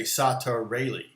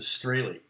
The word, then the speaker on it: Strahle: consonants like straightly my last name str they don't have any words that would be str they would have an s word a t word and an r word and so like to slowly say my name they would say sata rayleigh because they wouldn't know how to do the straily uh but they would say it fast enough would almost sound like you know soda really sort